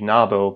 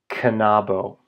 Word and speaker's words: knabo: That means that K is pronounced in English. You might think that would be Nabo, but nope. It's pronounced canabo.